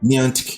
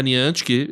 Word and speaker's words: Niantic: Niantic. É a Niantic, exato. Traga essa pronúncia.